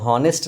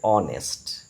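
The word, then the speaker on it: honest: এখানে এইচ এর উচ্চারণ অ এর মত হয়েছে। যেমন অনেস্ট দেখো হনেস্ট লেখা আছে কিন্তু বলতে হবে অনেস্ট।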